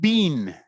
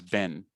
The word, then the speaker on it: been: This one is not bean. This one is been, like this one.